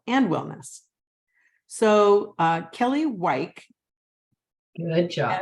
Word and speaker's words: Wike: with the amazing Kelly weiki hi Kelly am I mispronouncing your name wike wike just like it sounds like just like it sounds